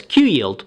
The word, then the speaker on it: QYLD: 100 ETF ticker symbol qyld D and pronounce as Q yield as the name implies